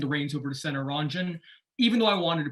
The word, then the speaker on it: Ranjan: my name is senator ranjan last name is spelled r-a-n-j-a-n it's sort of like ron john surf shop just replace the o's with the a's it is an honor